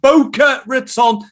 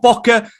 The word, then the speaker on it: Boca Raton: action in south florida boca raton not bocca i'm uk pronouncing it and it's funny